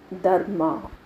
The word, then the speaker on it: Dharma: Your answer, Dharma. Of course, we pronounce the word with R silent. Since I want to differentiate, I gave the stress on R.